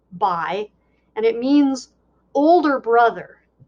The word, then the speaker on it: Bhai: It's pronounced kind of like Bhai, and it means older brother.